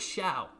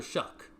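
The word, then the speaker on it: Shough: I didn't even know it was Shuck. Is that how it's pronounced? I thought it was Shiao. The whole time it was Tyler Shia. People now telling me it's Tyler Shuck.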